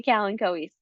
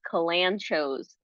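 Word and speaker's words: Kalanchoe: So this might be um very very familiar when when I say kalen kois. Now a lot of people actually call these kanchos.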